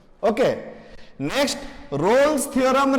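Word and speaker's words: Rolle: रोल्स mean value theorem रोल्स theorem बहुत जन ताकू प्रोनाउंस करंती रोलिस थ्योरम तो प्रोनाउंसिएशन को जहां भी थाउ किंतु तार मीनिंग ता बुझिबा कथा किंतु एक्चुअली तार प्रोनाउंसिएशन हला रोल्स थ्योरम ओके तो रोल्स थ्योरम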